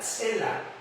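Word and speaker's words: צלע: La expresión costilla corresponde a un término hebreo que se puede pronunciar una tela. Consea, cela. T s e l a cela.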